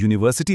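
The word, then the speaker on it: university: वो इसलिए कि यूनिवर्सिटी लफ्ज शुरू तो यू से होता है लेकिन इसकी आवाज यू की है और वाई की आवाज कंसोनेंट साउंड है।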